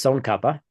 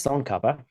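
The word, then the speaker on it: Tsongkhapa: This is son kapa. Where? Right. Oh, I'm sorry. I was highlighting the wrong thing. Uhhuh. That's son kapa.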